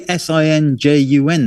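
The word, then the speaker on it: St John: Why doesn't it say Sinjun then? It's the pronunciation. John, space, I don't. Jen. Well, it's a pronunciation thing, Kev. It's like silent letters, which I know you love.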